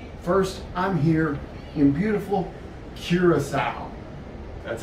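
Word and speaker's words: Curaçao: on cruising so first i'm here in beautiful curacao that's how you pronounce it just like healing a pig hear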